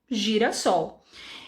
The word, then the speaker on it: girassol: com s e quando ele tá entre duas vogais em fica com som de z ia ficar ali girassol girassol ninguém fazer o sol né coitada da flor então para evitar que as pessoas pronunciassem girassol foi colocado um s e mais aqui e ficou então girassol então gente espero que